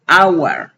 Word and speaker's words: hour: en la palabra hour yo no pronuncio hour con J, sino con la H muda, hour. Aquí no estoy pronunciando como una J, entonces como pronuncio una vocal, le antepongo consonante, an hour, ¿sí?